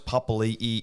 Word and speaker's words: Papali'i: So they do pronounce it Papali. Because he doesn't have that apostrophe between the I and the I. Yeah. It's just Papali.